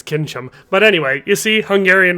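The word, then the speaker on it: Kincsem: her to me he needed a warhorse and kinim certainly isn't that she's more of a racehorse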